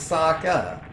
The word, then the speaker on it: Sokka: write this name is Sokka that's that's it it's two syllables it's a two syllable name it's pronounced as if it was Japanese there's a lot of